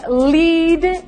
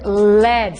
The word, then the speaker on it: lead: the correct answer is lead and lead 7,000 people yes yes so for example the word spelled le ad is a hetero name because it can be pronounced lead or lead there are even rare